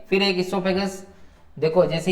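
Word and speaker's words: oesophagus: ठीक है, ओ से भी स्टार्ट हो सकता है, इसोफेगस, इट आल्सो इसोफेगस। ठीक है, तो इसके अंदर ओ साइलेंट रहता है, OESOPHAJUS, और ESO से भी स्टार्ट करते हैं, तो ये इसोफेगस हो जाता है ग्रास नली।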